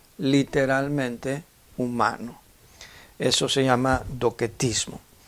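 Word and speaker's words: docetismo: & ismo aunque se escribe 12 mismo se pronuncia dockett ismo el adopción mismo consistía en que ya que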